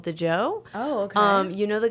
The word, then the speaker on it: DJO: DJO, I think they're called DeJoe.